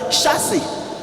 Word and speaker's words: chassis: so, because the Englishman will write CHASSIS and pronounce it as chassis, and will write fuchsia, CUSCHIA, and pronounce sh.